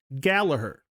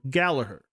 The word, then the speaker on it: Gallagher: Irish lass, I've learned that the actual correct pronunciation is, in fact, Gallagher. Been saying it wrong for all these years. So, G is silent, it's actually Rory Gallagher.